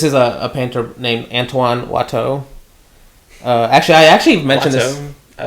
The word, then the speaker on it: Watteau: And he says this is a painter named Antoine Watteau.